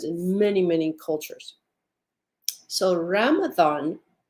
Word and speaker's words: Ramadan: many many cultures so Ramadan and if you'll hear how I'm saying it it sounds like it has a th in it remember it's Arabic it is spelled many